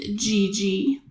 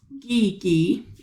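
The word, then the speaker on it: Gie Gie: a little girl um named gigi i'm sorry geeky it's pronounced a little bit differently geeky and her mother traveled far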